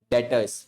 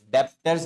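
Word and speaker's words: debtors: डेटर्स डेप्टर्स नहीं B silent रहेगा तो उसे डेटर्स बोलते हैं हम लोग। ठीक है? बी साइलेंट रहता है इसमें। डेटर्स बोलना है इसको।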